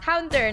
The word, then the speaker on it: Counter: it's Quarter Esport the entire time. And I'm like, no, I know it. This time it's Counter, not Quarter.